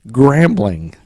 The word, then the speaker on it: Grambling: It rhymes with perambling. Perambling? Yeah. That's not a thing. It's not, but it rhymes with that. What? Grambling. Grambling? Grambling State University.